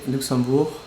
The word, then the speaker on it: Luxembourg: old old tradition also when you say luxembourg you don't get that g sound at the end that's something i didn't